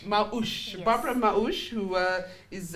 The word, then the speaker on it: Maush: Maush. Maush.